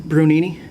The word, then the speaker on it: Brunini: seat and could you state your name and spell it for the recorder it's brunini b-r-u-n-i-n-i um sort of apparent by what you're